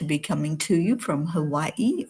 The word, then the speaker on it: Hawaii: So, I'm really really thrilled to be coming to you from Hawaii or Havi as it really is pronounced.